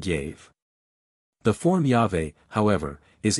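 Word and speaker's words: Yahweh: on the other hand the four consonants YH VH can hardly have been pronounced otherwise than as yave and this pronunciation is supported by the two Greek writers theodoret in epiphanios who say that the word was sounded yaave the form yave however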